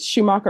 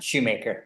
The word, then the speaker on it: Schumacher: Is it Schumacher or Shoemaker? Shoemaker. All right, you're Mr. Shoemaker.